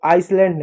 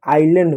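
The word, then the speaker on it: island: तो आइसलैंड गलत है। आइलैंड होता है। ऐसा साइलेंट होता है।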